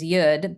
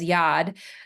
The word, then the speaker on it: yod: yeds or Ys the the correct pronunciation is yud but um everyone you may know it as Yad but these yods that are falling from